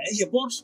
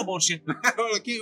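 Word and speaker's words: Porsche: شركه بورشا عالميه الكويت بورش ولا بورشه بورش ولا بورش عا لا هي عادي هي بس يعني تنطق النطق الصحيح له هو بورشه لكن احنا متعودين بورش وحتى الامريكان يقولون ابور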